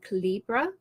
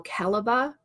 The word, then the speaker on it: Calibre: Jomi, there is an application out there called Calibra or Calibre. I've never found out which is the correct way to pronounce that. Calibre.